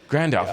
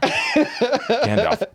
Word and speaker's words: Gandalf: Grandalf I will has a little mispronounce ring your to it. pronunciation. Say that again. Take out the R. Gandalf.